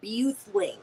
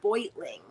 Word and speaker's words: Beutling: Yeah, my sister's husband, his last name is Beutling, but it's spelled like you would pronounce it Buthling. It's like Beuthlling or something. Like it sounds like, it looks like you would say Buthling, but it's pronounced Beutling.